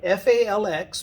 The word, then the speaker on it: falx: That's called the falx cerebri, F-A-L-X, pronounced falx, and cerebri, meaning cerebrum.